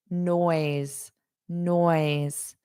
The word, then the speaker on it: noise: Now notice the pronunciation of noise. No noise. Ooise. You have this o. So it's really two sounds here. Oise. O E always and then just add the N.